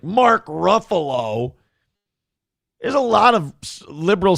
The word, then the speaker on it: Ruffalo: What What will Mark Ruffalo, however the he pronounces his name, Mark Ruffalo. Yeah. Ruffalo. Buffalo.